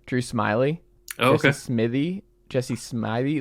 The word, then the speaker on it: Smithey: No, it's Smithey. Smithey is how I always tell people on the phone, just Smith with an EY on the end.